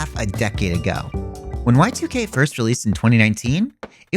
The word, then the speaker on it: YIIK: This game is spelled YIIK, and it's pronounced Y2K, but some like to call it YIIK.